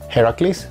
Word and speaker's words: Heracles: is our war load we have Heracles which is actually how in Greek hercules is pronounced or really pleased we